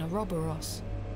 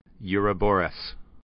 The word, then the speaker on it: Ouroboros: The head is adorned with an Ouroboros. Whoa, I've never heard it pronounced like that.